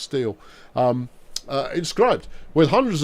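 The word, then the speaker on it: stele: with hundreds of Steel stale I've always called it stale I think it's pronounced steel um uh inscribed with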